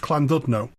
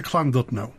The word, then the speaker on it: Llandudno: say what you see I also mispronounced cland dno the Double L does its own distinct thing I got coached